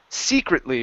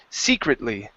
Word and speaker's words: secretly: Rebels good job yeah this word here is pronounced secretly with the stress at the beginning Secret secretly secretly okay very good